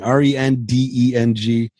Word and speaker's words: rendang: Okay, what is rendang? Rendang. So like in Indonesian, the pronunciation is rendang. Rendang. But it's rendang, RENDENG, and basically it's this spicy coconut meat.